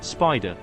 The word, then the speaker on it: SPDR: 1993 and it was called spdr often pronounced as Spider it tracked the snp500